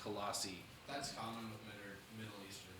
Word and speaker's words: Colossae: It still is pronounced Colossi.